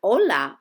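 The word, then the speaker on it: hola: Amber Lisa the word Ola also starts with an H in Spanish but I'm sure you didn't hear a huh-huh sound that's because it's silent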